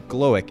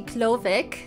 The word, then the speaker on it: Glowik: that is that right it's actually klovic and it's because it's a german name we turn that w to a v okay got it got